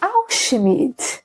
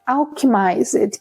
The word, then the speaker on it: Alchemised: Bem, essa é a história principal de Alchemid, ou melhor, Alchemized, que é o nome que se fala, é assim que se pronuncia o nome deste livro.